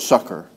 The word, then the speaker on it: succor: That's the way you pronounce that word, succor. To succor them that are tempted.